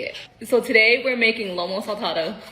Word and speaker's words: Lomo saltado: so today we're making Lomo saltado when I say it really fast it comes out all butchered but when I take the time to say it slowly Lomo salsado it sounds a lot better this is robot we're